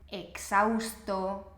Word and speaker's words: exhausto: Porfa, por favor, nunca pronuncies la H. La H en español siempre es muda, no se pronuncia, no importa dónde se encuentre dentro de la frase, ¿vale?